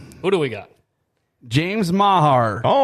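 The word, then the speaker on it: Meagher: James Mahar. Oh, how about that? Okay, write that down. James Mahar. I know it's not spelled the way it's pronounced, but James Mahar.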